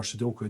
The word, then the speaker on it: sudoku: And they do say like a soduku or sudoku, depending how you pronounce it, day helps kind of stave off any sort of degenerative brain conditions.